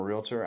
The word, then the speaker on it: realtor: realtor realtor yeah yeah don't don't give it three syllables get actually you say it realtor yeah and uh but I'm a realtor I am also a